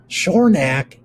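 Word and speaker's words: Schornack: then the ah and again shornack is the a makes the a sound so it's the short ah like at then finally the and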